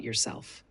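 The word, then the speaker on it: yourself: कहेंगे tell me about योरसेल्फ अब क्या आप इसे दोहरा सकते हैं ध्यान दें कि योरसेल्फ में आर का उच्चारण थोड़ा हल्का होता है टेल मी अबाउट योर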